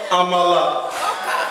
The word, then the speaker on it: amala: It's called amala. It's not called oka.